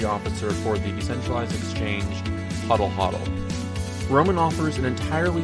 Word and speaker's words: Hodl: on the correct pronunciation of I guess everyone pronounces it differently is it hot I'll huddle or Hodel Hodel those are the two most common pronunciations